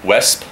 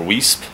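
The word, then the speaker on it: Weesp: just gonna get pedaling I'm in wesp or whisp however you want to say it I think they caught they say it in West is how they say it um I always call it whisp but I got lost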